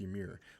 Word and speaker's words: Ymir: I think it's pronounced Ymir. It's Y-M-I-R.